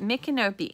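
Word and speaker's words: Micanopy: the mikanopi fall festival yes that is how you pronounce it mikkenopi m-i-c-a-n-o-p-y mcnope okay so makenobe fall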